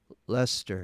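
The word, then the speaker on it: Leicester: especially your and and only says lester it's pronounced lester that's how it's spelled so are you trying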